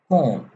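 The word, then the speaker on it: comb: आखिर में आ जाए उसका बी खत्म हो जाता है मिसाल के तौर पे बी ओ एम B Bong T ओ एम बी एम बी एंड पे आ रहा है Tong T ओ एम बी ट सीओ एम बी कोम टी एच यू एम बी थम बी नहीं पढ़ रहे थम एनीवे आगे चलते हैं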